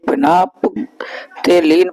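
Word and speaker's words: phenolphthalein: एक बात समझ लीजिए फिना तेलीन पड़ा जाता है लेकिन ला यहां पर बनता है आदा वो साइलेंट होता है ठीक है तो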